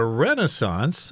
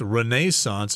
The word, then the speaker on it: Renaissance: European history called the Renaissance I think I've heard people pronounce this as Renaissance as well but the North American pronunciation is Renaissance that's when there was